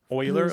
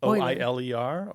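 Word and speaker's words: Euler: that was Leonard Oiler Oiler like o i l e r Oiler well it's spelled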